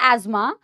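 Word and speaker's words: asthma: तीन ही डिसऑर्डर्स दिए हुए हैं बेटा, एज्मा जिसको अस्थमा भी बोलते हैं, है ना, एज्मा इज the right pronunciation, but हम अस्थमा बोलते हैं, emphysema and occupational respiratory disorders, फिर हम PYQs करेंगे।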